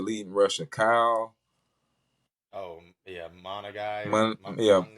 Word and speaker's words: Monangai: I've been trying to pronounce their leading rusher, Kyle. Oh yeah, Monagai. Monangai. Yeah, Monangai.